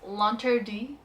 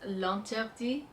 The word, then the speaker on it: L'Interdit: See, I took French in high school, and the way I think the French would say it is L'Interdit by Givenchy.